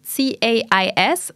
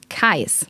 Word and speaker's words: CAIS: Das Forschungszentrum, in dem Josephine als wissenschaftliche Koordinatorin arbeitet, spricht sich nicht CAIS, sondern CAIS aus, was als Abkürzung für Center of Advanced Internet Studies steht.